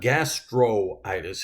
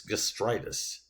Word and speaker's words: gastritis: which he does here that's why it's not gastroitis it's gastritis is actually how it's pronounced now this is a